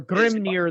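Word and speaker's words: Grímnir: is, Or Grimnir, the way most people pronounce it, right?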